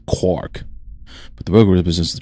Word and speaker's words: quark: The cry of the gull was clearly intended to rhyme with mark as well as bark. Another such words. I have to find an excuse to pronounce it as a quark.